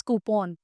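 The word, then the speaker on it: coupon: pronunciation right different pronunciation हां तो इट्स इट्स कूपॉन कूपॉन हियन कूपॉन कूपन कूपॉन अच्छा ओके हां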